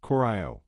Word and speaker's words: Goryeo: Goro 1,39 to 918 also pronounced Coro was a Korean Kingdom